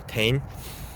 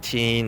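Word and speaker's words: Tein: a japanese company and japanese pronunciation dictates that t e is always pronounced te and then i n will be n so it'd be tane um i know a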